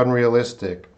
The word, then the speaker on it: unrealistic: For unrealistic, I made a mistake. Should be 5. I miscounted the syllables, guys. So whoever said 5 for unrealistic, yeah, we're gonna split that E and A. Unrealistic. So it's gonna sound like this. Because that will stand alone as a syllable.